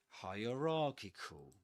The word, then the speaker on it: hierarchical: on ra this one hierarchical and actually this word is double stressed which means that the the main stress stress goes on ra and the secondary stress goes on higher hierarchical hierarchical.